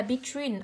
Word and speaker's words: between: Ý C chúng ta sẽ đọc tới là between, âm thứ hai của cô là âm y dài, trọng âm rơi vào âm tiết thứ hai.